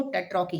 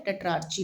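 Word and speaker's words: tetrarchy: इस व्यवस्था को टेट्रोकी हिंदी में आपकी बुक में ऐसे लिखा हुआ है टेट्रोकी और इंग्लिश में आपकी बुक में टेट्राची लिखा है। राइट? आपको करेक्ट करना है। आप इंग्लिश और हिंदी दोनों में एग्जाम में लिखेंगे तो ज्यादा फायदा रहेगा। ठीक है? व्यवस्था कहती थी। तो इस टेटरॉकी व्यवस्था में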